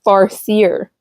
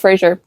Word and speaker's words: Farseer: I say Frasier but I think it's farer the farer Trilogy fierier I don't think it's Frasier it's definitely not because it's F and I read it as f r a that's why I mispronounced is